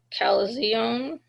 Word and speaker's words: chalazion: Um chalazion Chalazions, um spelled a little bit different, that CH is a K.